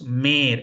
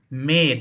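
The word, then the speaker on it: mehr: German it will pronounce May m e r is may just like pain it will be May similarly l e r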